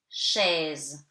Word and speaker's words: chaise: Chaise, AI give you E. And later I will explain you how to read the S. So chaise, you don't read the E at the end. Letter E is silent.